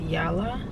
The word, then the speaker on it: Yala: I believe it's pronounced Yala, one of the two, Y-A-L-A, in kind of like the Valley, Studio City, and this place is really good.